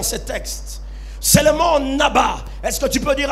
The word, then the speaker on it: naba: mot prophétisé dans ce texte, c'est le mot naba. Est-ce que tu peux dire à ton voisin le naba ? Ça s'écrit N A B A.